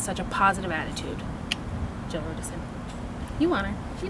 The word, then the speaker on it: Rudison: Is that how you say it? Rudison? Yeah. Rudison. You said Rudison. It right.